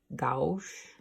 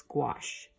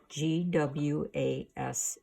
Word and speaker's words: gouache: of these paints is gouache gwas eh like wash with a G in front of it wash that's the French